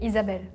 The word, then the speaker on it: Isabelle: In the States, we say Isabel. In the UK, we say Isabel. In France, we say Isabelle. In Spain, we say Isabela.